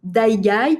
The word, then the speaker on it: Aigai: langues pour cette conférence j'ai adopté la prononciation dye qui est plutôt la prononciation grecque donc 10 siècles de